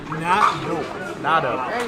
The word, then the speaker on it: Nado: How do I pronounce Julian's last name? Nado. Nad. Okay. Yeah. So, not I was saying Nadau. Is that wrong?